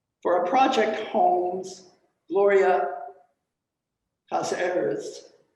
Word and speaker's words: Casarez: our project holmes gloria casarez casa eris is that how you pronounce it nick i think it's casarez and cyrus gloria sarah's